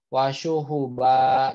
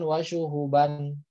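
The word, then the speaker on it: وَشُهُبًا: Wah ini wasyuhuba. Jadi bacanya bukan wasyuhuban. Ya, atau ini amada, ya bukan amadan, seperti itu.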